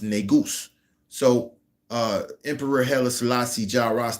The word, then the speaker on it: negus: Nu s pronounced negus.